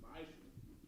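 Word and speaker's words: מעשר: You can find this in Numbers 18 and 21, Malachi 3, 8 through 10, means tenth in the Hebrew, and it's pronounced ma'ashu.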